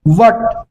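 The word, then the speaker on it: what: लिख देता हूं गाइस इसमें एच का तो साउंड आता ही नहीं है जैसे देखेंगे वट वट वट आपके मुंह गोल हो जा रहा है वट वई वेयर इस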